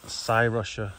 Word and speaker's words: Cyrusher: these beefy looking beasts from sa Russia that's how you pronounce it so this is